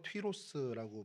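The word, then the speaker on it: Τύρος: 두로는 히브리어로는 초르라고 발음이 되고요. 헬라어로 튀로스라고 발음이 돼서 이 튀로스 발음이 지금 현재 레바논에 있는 티레란 도시의 이제 그 이름으로 이렇게 발전이 되게 됐습니다.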